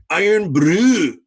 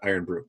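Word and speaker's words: Irn-Bru: as i can tell she insists is pronounced iron blue because it is super scottish or something so she never just says oh yeah i got iron broom um yeah it is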